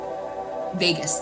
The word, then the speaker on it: vagus: It's spelled V A G U S. I'm not doing it justice by the way I'm describing it. I would look it up. Um, and that's Vegas.